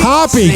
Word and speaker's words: Hoppe: Said my name wrong. Join us, everyone. Happy Hour is the thing with Hoppe. Hoppe, get it right.